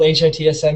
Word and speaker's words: HITsm: welcome to the third hitsm post-hitsm chat we decided it was called hitsm not hit some like some people like to pronounce it today we have Nathan